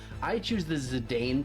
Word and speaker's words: Zidane: like to pronounce his name I choose the zidane pronunciation belong a I also use the Bron pronunciation